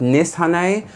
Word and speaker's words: Nishane: anymore I just can't I've been told that it is pronounced NIS Han by a Turkish person and which is where the brand is from however I will be